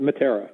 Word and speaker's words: Matera: There are two gentlemen involved, a John Chatterton and a John, how do you say his last name, Matera? Yes, perfect, Matera.